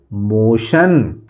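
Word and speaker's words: motion: मोशन।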